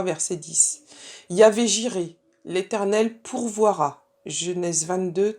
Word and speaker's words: Yahvé: Alors, le tétragramme qu'on prononce Yahvé, c'est le nom le plus employé dans l'Ancien Testament.